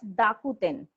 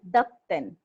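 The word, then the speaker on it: 濁点: This is known as dakuten, or you Okay. can say dakten.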